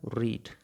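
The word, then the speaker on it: read: पढ़ना मतलब रीड। अब अगर हम रीड की तीनों फॉर्म ऑफ वर्ब बनाएं, रीड, रेड, रेड, स्पेलिंग इसकी सेम होने वाली है, प्रोनाउंसिएशन में थोड़ा सा डिफरेंस आने वाला है।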